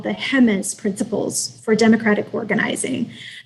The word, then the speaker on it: Jemez: One resource that I find myself referring to all the time is a document called the HEMES Principles for Democratic Organizing. That's spelled JEMEZ, HEMES Principles.